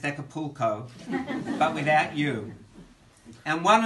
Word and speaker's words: Acapulco: Those were the formative years of my teenagerhood when I was spoilt and went on family holidays to Ekelpekel, as the men innocently pronounced Acapulco, but without you.